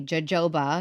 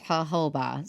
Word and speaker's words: jojoba: They say jojoba because that's how we would say it, jojoba, or the correct way apparently, which is jojoba. So the J is just an H through and through.